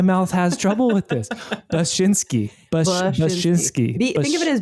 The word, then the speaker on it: Bachynski: Bachynski. Bachynski. Like the noise a sheep makes, and then like your shin, and then the sport. I don't know why my mouth has trouble with this. Bachynski.